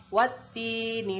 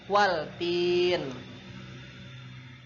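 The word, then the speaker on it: والتين: Nah, di dalam Quran surah At-Tin ini ada wattini wazzaitun ya. Nah, itu adalah alif lam syamsiah. Jadi bacanya wattin, bukan waltin.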